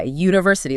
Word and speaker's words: university: It starts with a U which is absolutely a vowel. But if I try to say n university, it feels super clunky, right? Because the sound you are actually making is u like the letter y university.